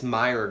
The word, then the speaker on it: Meijer: to the store called Meijer it's like spelled like mei ke are like my juror but like admirer so um they have